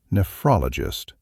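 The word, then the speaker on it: nephrologist: If you have kidney disease, especially stage three or beyond, you need to work with a nefologist, that's pronounced nefologist, a kidney specialist.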